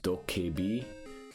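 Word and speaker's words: 도깨비: By the way, I looked up how to pronounce it. It's Dokebi and Tsuchinoko.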